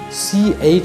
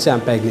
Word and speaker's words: champagne: okay for example champagne actually what is the pronunciation champagne but what is the spelling c-h-a-m-p-a-g-n-e okay don't say champagne this is not champagne at all based on its phonetics or sound system it is pronounced as champagne not champagne this is